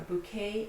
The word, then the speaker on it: bouquet: A bouquet of flowers. Christmas. So the word Christ is pronounced with the T at the end, but